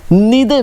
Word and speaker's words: neither: So after learning either or या फिर आइदर और बोलूँ, नीदर नॉर या फिर नाइदर नॉर बोलूँ, दोनों ही प्रोनाउंसिएशन सही है, कभी कंफ्यूज नहीं होना, दोनों ही सही है।